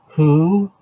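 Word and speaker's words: הוא: Who, that's H-U in pronunciation, not W-H-O.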